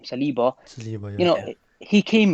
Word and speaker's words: Saliba: Saliba.